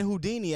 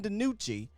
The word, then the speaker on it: DiNucci: I called him Ben Houdini at first because I didn't know how to say his last name. So Ben DiNucci.